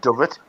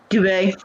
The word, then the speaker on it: duvet: I've got a giant dovet. Duvet.